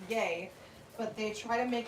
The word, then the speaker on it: Ye: J Money says, no people do call Kanye ye pronounced yay, but they try to